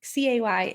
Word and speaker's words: Cay: I feel like it's still going to be Lookout Key because Key, C-A-Y, is pronounced Key in the Bahamas, unless you are Royal Caribbean and you call it Coco Cay so that it rhymes with Perfect Day.